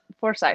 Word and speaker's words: Forsythe: Forsythe.